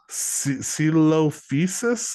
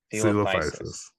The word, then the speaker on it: Coelophysis: Do you know how to say it? Coelophysis, I think. Coelophysis. Coelophysis. Oh, I guess I added a EO. You were closer than I was. Here, let's listen to this.